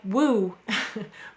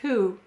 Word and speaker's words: who: Well, it looks like woo, but it says who.